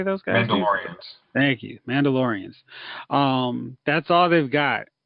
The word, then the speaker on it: Mandalorians: they've announced is the Star Wars show the mandolin man how do you say those guys laureates thank you Mandalorians um that's all they've got so you know